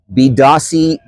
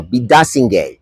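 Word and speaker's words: Biidaasige: It's the largest to open in Toronto in a generation and includes the new park and again I hope I get the pronunciation right Bidasi no bidasing which means sunlight shining towards us.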